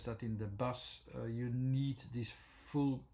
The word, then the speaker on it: but: three kinds of words that are are with butt uh b u and T um you have